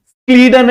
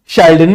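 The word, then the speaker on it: Schleiden: चलो, अब ये दो साइंटिस्ट आए, स्क्लीडन एंड स्वान। शेल्डन भी बोल दो, कोई दिक्कत नहीं, स्क्लीडन बोल दो, बात समझ में आ गया। दोनों का प्रोनाउंसिएशन एक ही जैसा होता है।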